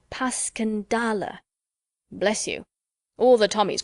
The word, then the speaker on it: Passchendaele: Marchant, it was so strange to hear you call it Passchendaele." "Why, if I may ask?" Because that's the way I pronounce it to myself, but I looked it up, and it's more like Paskendale.